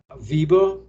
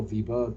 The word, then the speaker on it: Weber: So in terms of charisma, Weber, or Max Weber, or Weber, depending upon how you pronounce it, started off in 1924 and then 1947.